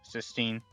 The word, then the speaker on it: cysteine: out the first words cysteine, it kind of sounds closely to S. So cis will kind of sound like S at the end.